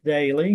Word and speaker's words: Doelle: far as social media you did pronounce my name correctly Daly but it's spelled funky d o e l l e which you know the